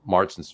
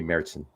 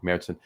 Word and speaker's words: Märzen: His Marzen's fantastic. Excuse me, Märzen. Say it correctly, right? Märzen.